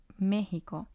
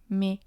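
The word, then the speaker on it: México: has Co he me since this word ends in an O the rule says that the stress should be on the second syllable so it should be Meo me but for whatever reason that's not how we wanted it to sound so we add the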